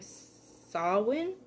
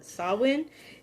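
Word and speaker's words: Samhain: and november and develop november being sawin is how i learned to pronounce it okay then so uh i'm gonna i'm probably gonna mess it up but sawwin in the celts time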